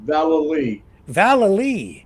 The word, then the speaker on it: Vallely: you Rick the pronun pronunciation of my name is actually an old Irish name Val Val you see I I